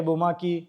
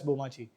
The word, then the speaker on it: Bomaachi: और dual pronunciation भी मिल रहा है, लोग बोमाची बोमाची करेंगे, है बोमाकी. Yeah, initially even I was बोमाची. Everyone, like 100 out of 100 people would read it as bomachi.